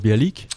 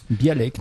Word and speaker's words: Bialek: Ça se prononce Bialik ? Bialek, non, Bialek.